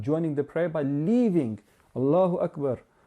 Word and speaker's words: Allahu Akbar: So we don't say Allahu Akbar. We don't pronounce the ra at the end, and we don't prolong the r at the end, and we don't prolong the alif as mentioned earlier.